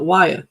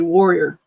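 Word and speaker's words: Wayah: A lot of people call it Waya because that's how it's spelled. It's actually warrior.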